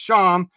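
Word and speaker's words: שָׁם: It says that this one's pronounced Sham, as there, thither, from there, thence, then as an adverb of time.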